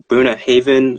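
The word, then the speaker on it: Bunnahabhain: I have a Boona Haven, I think it's pronounced Boona Haven 12-year whiskey.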